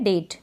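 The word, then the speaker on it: date: यहाँ पर जैसे ये है डेट, क्या है डेट, तो डेट में एंड में देखें, अब ई को तो हम प्रोनाउंस नहीं कर रहे हैं, तो ई जो है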